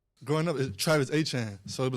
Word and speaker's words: Etienne: So, I'm like man it's Etienne. Like how you say it is how you say it.